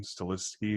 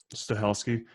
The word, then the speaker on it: Stahelski: How do you say Chad's last name? Stilisky or? I've heard Stahelski.